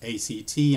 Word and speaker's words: ACT: Darren Edwards and I'm doing a quick session on something called acceptance and commitment therapy BRE v8 it's a CT and pronounced act just give you a